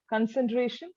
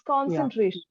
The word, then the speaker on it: concentration: victims okay so uh the pronunciation of concentration it's not concentration it's concentration okay concentration position cam so